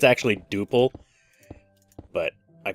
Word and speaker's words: Drupal: I use a program called Drupal or Duple. I think it's actually Duple, but I call it Drupal.